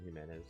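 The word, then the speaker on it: Jimenez: Jason Himenez. Yeah, it's it's Jason, but but it's spelled in Spanish, so it says Jason Himenez.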